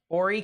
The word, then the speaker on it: Horry: been One Singular report Horry County that's what it's pronounced and that's uh over